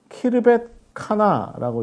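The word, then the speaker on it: Khirbet Qana: 이렇게 이야기할 수 있는데 카프루 칸나라고 이렇게 읽을 수 있고요. 그 다음에 키르벳 카나라고 이렇게 읽을 수 있습니다. 그래서 하나는 K고 하나는 Q 발음으로 이루어집니다.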